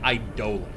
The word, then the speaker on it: Idolon: pronounced like for instance idolon is actually pronounced idola and I don't like that it's an idolon that's the right one